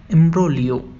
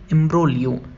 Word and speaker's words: imbroglio: तो हम बोलेंगे इम्ब्रोलियो। मेरे साथ रिपीट करिए, इम्ब्रोलियो। यहाँ पर जो जी आ रहा है वो पूरी तरह से साइलेंट है, तो हम बोलते हैं इम्ब्रोलियो।